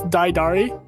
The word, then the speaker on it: Daidari: And if you watch the Hecna campaign, you know, Dittery and or Didery. I always say that wrong. I always say it wrong. You even said it a little wrong. Anyways, it's Daidari. Yeah, there's a syllable.